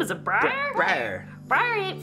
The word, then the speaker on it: Briar: Briar.